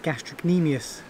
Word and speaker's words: gastrocnemius: like knee, thinking of gastrocnemius, one of the muscles in the calf. Does it have a silent C? Not really. You kind of pronounce it, but you kind of skip over it.